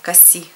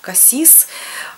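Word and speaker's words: Cassis: Мне нравится курорт который коси называется это недалеко от Марселя пишется как касис касис с французского - это чёрная смородина но жители именно вот этой вот местности Они называют этот городок коси настолько там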